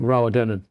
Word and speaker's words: Rowardennan: Rowardennan. Is that how you pronounce it?